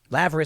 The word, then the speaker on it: Lavery: They wanted the Laverys, Lavery is how you pronounce their name, to join them in collective action against Substack.